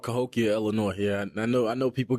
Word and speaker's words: Cahokia: It's called Cahokia, Illinois.